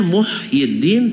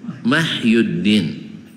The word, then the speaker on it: Muhyiddin: ya bacanya apa Hah harusnya Muhyiddin tapi dibaca mahyuddin Tengoklah orang-orang Indonesia ada